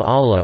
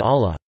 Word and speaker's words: Allah: the second L in Allah. When the word Allah is preceded by the vowel a fathed or the vowel u damped, then the lam is pronounced in a distinct heavy manner, with takhim.